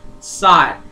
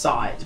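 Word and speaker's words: Sahwit: Saw it. But it was Sawhit. Well, it's actually pronounced Saw It, but they spelled it differently because, you know, it's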